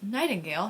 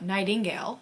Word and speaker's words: Nightingale: Okay, so as we know, I'm reading The Nightingale, which is pronounced Nightingale, not Nightingale.